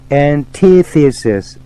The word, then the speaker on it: Antithesis: Antithesis, antithesis. 이것은 반론 또는 반대되는 것 이런 뜻입니다. Antithesis, 발음에 주의하세요.